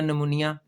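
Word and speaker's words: pneumonia: P silent है। पी नहीं बोलेगा। और यह लफज़ तो खैर आपको पता ही होगा। निमोनिया।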